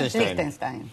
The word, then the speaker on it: Liechtenstein: El Principado de Liechtenstein, ¿cómo se pronuncia? Liechtenstein.